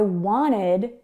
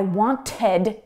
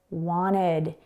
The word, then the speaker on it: wanted: Now, In North American English pronunciation, we often delete the T sound or mute the T sound when it comes between an N and a vowel. So because want is spelled W-A-N-T, and then we have the ed ending, it sounds like wanted. It almost sounds like there's no T there at all.